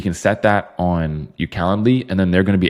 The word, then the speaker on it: Calendly: So it kind of is spelled like calendar, but instead of der, it's Lee. Calendly.